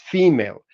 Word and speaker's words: female: So in English, the word female, nobody would, say that this should be pronounced any other way except female.